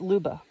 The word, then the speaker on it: Luba: I looked it up, and it's Luba.